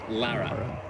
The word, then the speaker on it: Lara: any of the movies yeah it's lara yeah my entire life is a lie okay that's great gotta find that out now that i've been pronouncing that wrong for like a decade i think it's because